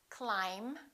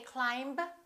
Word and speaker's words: climb: of students mispronounce let's start with the silent B bomb climb we don't say climb we say climb debt don't say Dept